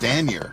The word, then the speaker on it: Stanier: Stanier. Yeah. I always make it more Stanier. No. But there's no, like, it's not like stain. No, it's Stan. Stan. Like Stan Lee.